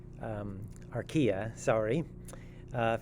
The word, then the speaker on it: archaea: covering the bacteria and rka um archaea sorry uh if you're kind of confused how to pronounce that word just think ikea and kind of change it a bit to sound like archaea so we've previously talked